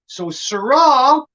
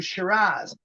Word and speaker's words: Syrah: and those poor aussies could not pronounce syrah with the aussie accent it turns out to shiraz syrah always been the french way and the poor aussies cannot pronounce surah it turns to shiraz so the shiraz wines